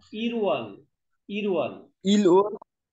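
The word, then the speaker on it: 일월: इल उल इल होइन इरवल, इरवल इल ओल की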